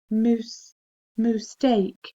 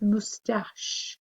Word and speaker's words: moustache: prickly on his face you can also see at the end it looks a bit like ache okay moose moose steak but it's mustache spelling five is brochure